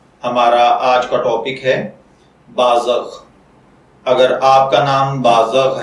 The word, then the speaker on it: بازغ: اپنے آج کے ٹاپک بازغ کی جانب۔ بازغ کی اردو املا میں جو حرف استعمال ہوتے ہیں وہ ہیں بے الف با، ز زبر غین زغ بازغ، جبکہ انگلش میں اس